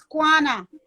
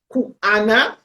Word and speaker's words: Kuanna: The name is Kwana. Kwana, see? Because I pronounce it as Kuana or Kiwana.